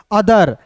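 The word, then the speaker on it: other: ई आर तो देखिए यहाँ पे टी एच है तो ऑथर नहीं पढ़िएगा, इसे पढ़ेंगे अदर। देखिए ओ है तो इसका उच्चारण अ के रूप में, टी एच का द, आर का दोस्तों, यहाँ पे ई का भी साइलेंट होता है।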